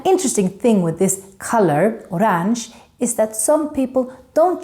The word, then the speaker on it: orange: that would be orang we write it the same way as in English orange but we pronounce it the Swedish way orang here you canar hear